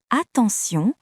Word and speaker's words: attention: Dans le mot attention, T se prononce S.